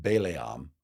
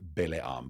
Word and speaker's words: Balaam: It's not in English, it's spelled Balaam, and most people pronounce it Balaam, but in Hebrew it's Balaam.